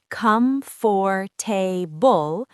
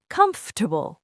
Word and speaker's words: comfortable: People say comfortable. Correct, comfortable or comfortable. You basically eat a syllable.